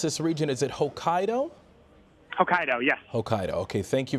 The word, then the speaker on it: Hokkaido: Before you go, real quick, how do you pronounce this region? Is it Hokkaido? Hokkaido, yes.